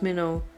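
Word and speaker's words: Mildenhall: know is that of miden Hall pronounced Minn near MBA it stands in the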